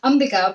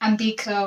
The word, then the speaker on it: Ambika: do you say it so it's actually pronounced umbiga but a lot of people pronounce it like ambika or ambiker of all sorts so i'm used to